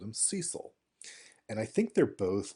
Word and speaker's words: Cecil: Cecil, when I was a kid, I called him Cecil.